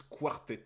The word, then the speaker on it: quartet: Ça se prononce quartet, ok.